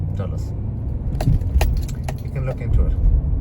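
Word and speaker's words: Dulles: Well, among others, D U L L E S Dis people pronounce it pronounce those names. Dulus, you can look into it.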